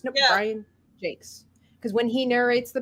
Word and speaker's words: Jacques: and I he do you know that he pronounces it Jake's does he he does isn't that he totally Americanized it right we were we used to call it yeah Brian Jacques or jacquez or something like this no Brian Jakes because